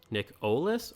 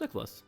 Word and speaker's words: Nicholas: He also asks, is it pronounced Nick-Olis or Nicholas? Well, it's pronounced Nicholas.